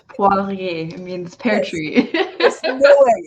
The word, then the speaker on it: Poirier: And French is not one of my strengths, so I'm gonna let you say your name because I probably butchered already. Oh, it's Poirier.